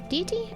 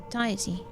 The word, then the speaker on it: deity: Deity. I get stuck on this word every time. I can't remember how you say it. Nods in conjoined heads. Deity. Diety. No, it's deity.